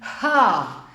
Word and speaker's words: H: Ihr hört es, wenn ich es sage, dann hauche ich mehr oder weniger den Buchstaben ha. Mit meinem Ausatmen spreche ich den Buchstaben aus, spreche aber auch ein deutlich hörbares A.